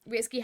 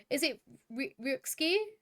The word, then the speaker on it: Ryuxkiii: Oh, the X is pronounced, I'm sorry, sweet. So is it Ryuxkiii?